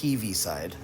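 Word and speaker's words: Heaviside: heavy side function and it looks like it's pronounced heavy but it really is heavy side um and it's named after oliver heavyside and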